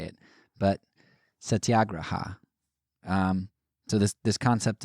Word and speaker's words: satyagraha: computer voice on my computer say it but satyagraha um so this this concept of satyagraha or